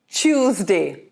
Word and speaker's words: Tuesday: Tuesday? Tuesday. Okay, how about you take a look at the word choose? And day, of course, combine it to say Tuesday. The second day of the week is a Tuesday.